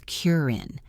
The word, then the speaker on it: curtain: We stop the air in our throat. Mountain becomes mount in. Curtain becomes curin.